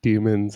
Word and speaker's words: daemon: I actually did not know that demons and daemons were different. I figured that was just a stylistic choice. Yeah, I think it's like, well, first of all, you pronounce daemons as demon in English, so right.